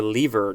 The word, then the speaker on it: lever: and there's more at the word lever or lever depending on how you want to say it next we have ale